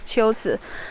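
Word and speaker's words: 龟兹: think, because in Chinese, usually the two characters should be pronounced as Gui and Zi, but it's actually not. Here, this place should be pronounced as Qiuci.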